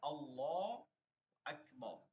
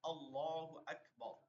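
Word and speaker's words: الله أكبر: তাকবীরে তাহিমা বলা যেটা উচ্চারণটা হচ্ছে আল্লাহ আকবার আচ্ছা আমার সাথে সাথে এবার পড়েন সবাই আল্লাহু আকবার বলেন বলেন সবাই আল্লাহু আকবার মাইক্রোফোন অন রাখেন আল্লাহু আকবার এই যে এই যে দেখেন আকবার এই যে আকবার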